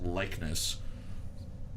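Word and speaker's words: Lychnis: it's l y c h n i s likeness but not like likeness but pronounce that thickness flow um but but this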